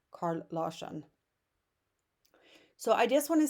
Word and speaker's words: Carl Larsson: Swedish artist, Carl Larsson, or I would pronounce it as Carl Larsson.